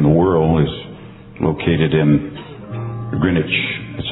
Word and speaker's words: Greenwich: Our prime meridian in the world is located in Greenwich. That's how they pronounce it.